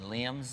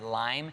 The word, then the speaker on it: Liam: time i mispronounced um from one direction liam's name and because i was reading a lot i said lime they attacked me his